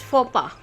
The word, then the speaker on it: faux pas: So, faux pas. Yeah, it's faux pas.